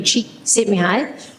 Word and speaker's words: Csikszentmihalyi: by a guy called Csikszentmihalyi. I looked that up and practiced pronouncing that. It's definitely Csikszentmihalyi.